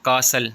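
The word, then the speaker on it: castle: Wednesday D silent है। कासल जिसको हम किला कहते हैं, टी साइलेंट है।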